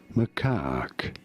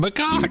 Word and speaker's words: macaque: Macaque. You Macaque. do want to stress on the second syllable, on the caque syllable.